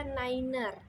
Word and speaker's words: niner: huruf w dalam five 9 miner dibaca niner 10 oneer dan seterusnya